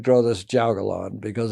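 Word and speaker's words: jiaogulan: only grow one plant you said grow this juggalon because it's a how do you spell that j-i-a-o-g-u-l-a-n all right thanks uh um so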